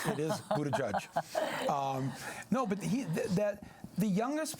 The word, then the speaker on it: Buttigieg: Yes, I'm not trying to pronounce the name. It is Buttigieg.